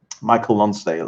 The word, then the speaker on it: Michael Lonsdale: Nosdal was born in Paris but raised in Ireland. You can safely say his name the English way. Oh, okay. Thanks to Bomb Bulletin. Michael Lonsdale.